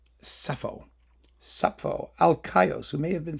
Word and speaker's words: Sappho: Hölderlin and Sappho. Yeah. I don't pronounce the P. Sappho.